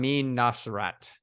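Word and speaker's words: Nosrat: So, Food Lab and there's another one that we always recommend which is uh salt, fat, acid, heat by uh Sam Naserat.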